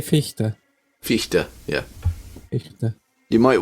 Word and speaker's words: Fichte: However you say it, the spelling is Yeah, we'd say Fichte.